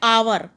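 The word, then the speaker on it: hour: तो फिर देखो यहाँ पर जब हम एच ओ यू आर लिखते हैं तो हम इसको हिंदी में बोलते हैं आवर। मतलब इसको जो प्रोनाउंसिएशन होती है इसकी इंग्लिश में, उसको बोलते हैं हम आवर।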